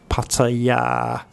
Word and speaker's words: Pattaya: So pat, ta, then we have an implied short vowel here, ta. Then we have the yor yak y consonant, and this final vowel is actually long, pataya.